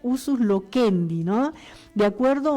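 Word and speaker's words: usus loquendi: Debemos notar también que muchas palabras bíblicas eran exclusivamente del de uso local y eso eh se se pronuncia usus lokendi, ¿no?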